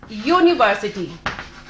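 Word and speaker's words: university: अ यूनिवर्सिटी। Start हो रहा है यू से, मगर प्रोनाउंस कर रहे हैं हम य से।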